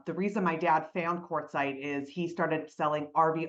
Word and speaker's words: Quartzsite: And everybody pronounces it incorrectly, Quartzsite.